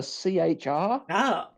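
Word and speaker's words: C-HR: It was for the CHR. Which is like a small SUV. Is that you struggling to spell car? Is that what? That's what? Yeah, I'm kidding. I swear to God. It's still pronounced car.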